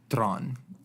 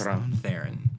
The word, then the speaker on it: Theron: It's really pronounced in Afrikaans, Tron, but it's Theron in the American accent.